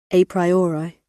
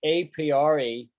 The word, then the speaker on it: a priori: let's hear the pronunciation a priori oh i don't like how she pronounced it a priori she's probably right though but i would never say it like that i would say apiori a priori she says